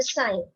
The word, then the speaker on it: sign: It's a sign. So when you, what's the spelling of sign? S-I-G-N. Sign. So what is silent? G is silent.